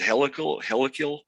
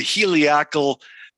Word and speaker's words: heliacal: You remember that word that I tried to pronounce it wrong? I said helical. Well, it's the heliacal, however you pronounce it, the heliacal patterns of the stars.